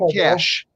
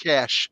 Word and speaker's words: cache: okay so it's actually cash it's actually pronounced cash it looks like cachet but it's actually pronounced cash that's when you have